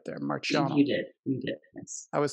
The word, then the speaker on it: Marchiano: I hope I pronounced your last name right there, Marchiano. You did. You did, yes. I was thinking maybe if it's Italian, it should be a K sound, but...